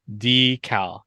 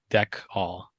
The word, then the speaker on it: decal: to point out that Chad is saying deal wrong it's dcal not deck all I've been wrong before